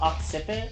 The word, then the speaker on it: occiput: Is it pronounced occiput? Yeah. I just figured you'd know because you like took. It's like occipital.